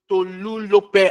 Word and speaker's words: Tolulope: To to Tolulope. I know how to pronounce your name.